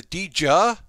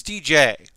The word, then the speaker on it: Dijeh: I learned the pronunciation of this wrong. I learned this is the Dijeh, but it's Dijeh. Like, hey, DJ.